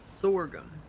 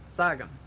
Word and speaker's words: sorghum: yes we pronounce it sorghum my dad pronounces it as sagam sangam wait your tabs from new york i'm done i'm not kidding you that that's what he preached you mean i said you mean sorghum he's on stage that's the really old deep south pronunciation of it or it